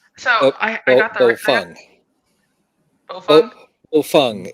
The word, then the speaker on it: Baofeng: And my husband, he bought the Baofeng and or Boofwang, someone other YouTuber says it. But they all work. Yeah. So I got the Bofeng. Bofeng is the pronunciation.